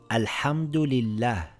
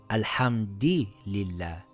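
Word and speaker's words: الحمد لله: Pronounce all the vowels and sukoons as they are written. For example, this reads alhamdulillah. We must read it exactly as it is written. So I can't say alhamdi lillah.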